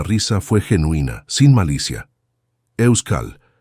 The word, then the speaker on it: Euskal: «Euskal», la K es importante. «Euskal», repitió, y aunque seguía siendo incorrecto, estaba más cerca.